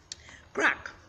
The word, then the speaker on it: craic: crack CRA IC and it is pronounced crack let me say build